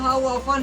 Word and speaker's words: often: है हो ओपन है ना यहां पर हमारा ओपन है यहां पर 30 साइलेंट है क्या है 30 साइलेंट के रूप